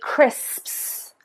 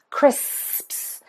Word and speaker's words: crisps: An example would be crisps, crisps. So we've got a p and a s double s there actually, crisps, as well as having the k and the r, crisps.